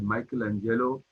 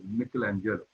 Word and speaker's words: Michelangelo: You might have heard of him pronounced as Michelangelo, but in Italy they pronounce his name as Michelangelo.